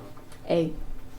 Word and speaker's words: Spinetta: Spinetta, it's kind of like an Italian last name. Okay. And yeah, if you, it's Spinetta.